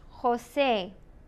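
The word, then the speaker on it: José: J is like a hard H. Jose.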